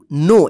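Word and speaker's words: know: teach का मतलब पढ़ाना नो के एन ओ डब्लू नो इसको नो मत पढ़िए के साइलेंट रहेगा ठीक है ना नो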